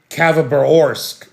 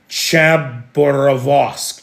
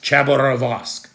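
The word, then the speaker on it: Khabarovsk: We saw uh a military helicopter that was returning from repair work in uh Cavarorsk. That's not the right way to say that. I'm sorry. Chabberosque Chaborosque.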